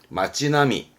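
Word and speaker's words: 町並み: 줄비에 있는 그런 모양새를 말할 때 쓰는 단어인데 발음은 마찌나미 마찌나미에서 어떤 거리 풍경 거리 모습을 말할 때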